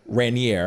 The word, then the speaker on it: Raniere: 60 year old rainier raniere i think is how it's pronounced and the devastating impact